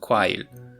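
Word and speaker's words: 과일: If we took this word and applied the readings of each constituent hanja, we would get kwasil, but instead the word is spelled kwail.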